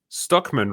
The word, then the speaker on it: Stuckman: Stuckman rhymes with Druckmann.